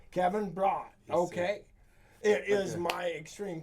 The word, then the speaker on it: Bradt: from good friends of yours how do you pronounce your last name sir brought kevin brock okay it is my extreme pleasure to have